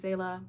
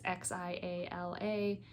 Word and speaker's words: Xiala: I'm pronouncing it Xaela. Again, it's Xiala. That's what the pronunciation I found when I looked online, but I'm not sure.